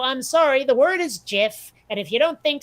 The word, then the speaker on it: GIF: then Jag or Judge Advocate General would be pronounced J and it's not so I'm sorry the word is Giff and if you don't think so [ __